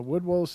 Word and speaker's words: woodwose: up okay yeah I'm trying to find a woodwose is amiss mythical it's wo OD w OSE